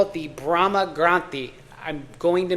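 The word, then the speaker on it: granthi: call it the Brahma Granti. I'm going to mispronounce that. Brahma and then granti is basically means a knot. So and granti is spelled gr an n t hi. Okay.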